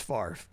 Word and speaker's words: Favre: But it's pronounced Favre.